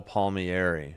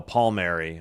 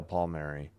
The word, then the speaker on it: Palmieri: Calvin Dhan, Nick Ley, and Kyle Palmieri. Okay. or no, Paul Mary. I know I always say that name wrong. Kyle Paul Mary. They don't pronounce the I.